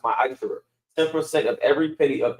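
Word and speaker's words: מעשר: means tenth in Hebrew, and it's pronounced ma'asher.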